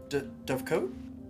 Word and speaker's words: dovecote: Dovecote? Dovecot. I got yelled at for this earlier. Although Theed might be wrong. Google pronounces it dovecote.